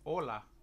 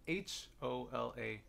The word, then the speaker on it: hola: school so to say hello in Spanish it's hola and it's belt H Ola or la you say with me hola hola great job thank you mr.